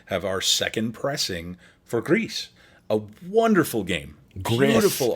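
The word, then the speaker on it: GRIS: little area has they they hard pronounce the s so it's greece is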